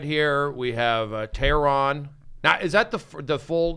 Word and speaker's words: Tehran: the concept is it's it's Persian so it's it's actually Tehran right but as long as you get the concepts in there I'm happy okay just like terror you know when Brody